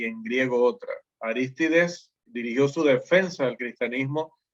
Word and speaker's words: Arístides: Normalmente conocemos a estas personas como Aristides en acá en Latinoamérica, ¿no? Pero en griego el nombre se pronuncia Arístides.